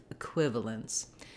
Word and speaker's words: equivalence: first it is short and the second is long a quiv equivalence one way to be